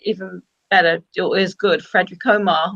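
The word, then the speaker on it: Friðrik Ómar: And they were in the super final in the end with the even better or as good Frederick Omar or Friedrich Omar, it's pronounced, Yeah.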